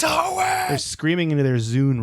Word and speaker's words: Hoenn: The design of Hone was based on the Japanese island and region Kyushu. However, Hone is rotated. Is it Hoenn? Hoenn. Hoenn. I'm saying it wrong. Someone's screaming into their iPod. It's Hoenn!